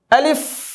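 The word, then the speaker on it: ألف: আলিফ আমার সাথে পড়ুন।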